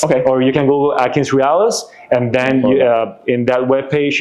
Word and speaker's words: AtkinsRéalis: Realis is like real. Yep. REALIS. Okay, .com. Yes. Okay. Or you can Google AtkinsRéalis, and then in that webpage you can look for register as a vendor.